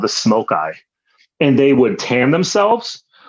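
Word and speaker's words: Smoki: I thought it was Smoky until I read more closely and I realized you pronounce it Smoke Eye.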